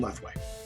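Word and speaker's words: Lethwei: knees kicks punches takedowns are all legal in left way how do you spell that uh l e t h w e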